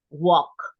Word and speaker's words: walk: the L neither right and Poco so talk walk okay they are common verbs so remember the pronunciation please walk then we have ride you